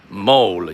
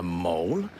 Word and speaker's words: Mole: at the mole now many of you may think when I put it on the description mole you probably thought a mole okay it's pronounced mole um okay let me